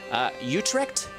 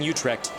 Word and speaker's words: Utrecht: So I'm hoping that Utrecht, I think that's how that is pronounced, and over here is Groningen.